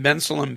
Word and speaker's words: Bensalem: And this is going to be at the Christian Life Center at 3100 Galloway Road in Bensalem, Pennsylvania. I finally got the pronunciation right.